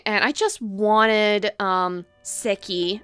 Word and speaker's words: Seki: i just wanted um sicky i i think that's the appropriate way to say her name not sakai even though nostalgia me wants to say it like that but i just wanted